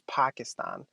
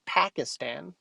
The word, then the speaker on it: Pakistan: effort he actually tries like obama says pakistan not pakistan pakistan the correct pronunciation of the country i'm from and i'm sure after